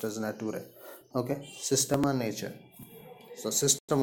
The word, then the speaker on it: Naturae: Actually, it's a Scotland book, so it is pronounced as Naturae.